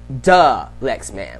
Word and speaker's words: Dalyxman: But, yes, it's pronounced Dalyxman. Like the Lexman, but slang the. Like Dalyxman. Like Dalyxman. That's how you say my name.